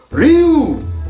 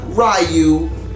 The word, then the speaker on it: Ryu: Ryu, not Ryu. Ryu, get it right. You, or you say it like that.